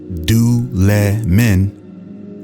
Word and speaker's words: Dulaman: Mesa Mart tabloids writes the Dulla Minh pronounced do let men that's hard to say the Dolman culture or do lemon